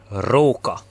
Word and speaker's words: róka: it's very soft, but in the Hungarian language it's very strong. It's rrr, like if you were a pirate or something. So, rrr, róka.